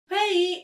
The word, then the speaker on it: 회의: 회의 is a meeting and it is pronounced as 회의.